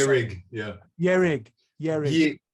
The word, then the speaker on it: Ye-Rig: Ye-Rig, Ye-Rig. It's Ye as in Yeshe and Rig as in Rigpa, Ye-Rig.